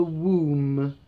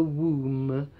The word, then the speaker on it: womb: life inside the woman, that is called a womb. A womb.